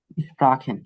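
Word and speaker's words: sprechen: এটা কি বলেন তো, উচ্চারণটা কি হবে? রাখেন। স্প্রাখেন, গুড। স্প্রাখেন, স্প্রাখেন মানে হচ্ছে কি ভাষা।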